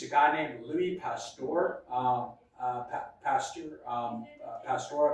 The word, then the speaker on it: Pasteur: Pasteur, I believe is how you pronounce it.